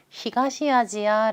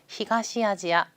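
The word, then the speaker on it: 東アジア: 아시아 바램을 일본어로 이렇게 카타카나 로 발음할 때는 아시아가 아니라 지하 라고 하는 것도 같이 알아두시면 좋겠어요 그래서 동아시아 라고 할 때는요 토와 아시아 라고 하지 않고요 히가시 아지야 라고 합니다 동아시아는 귀가 시 아지야 그래서 이렇게 지역의 이름으로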